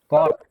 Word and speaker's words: caught: Then caught. In the word caught, there we can see G and H is silent. Okay, G and H are silent.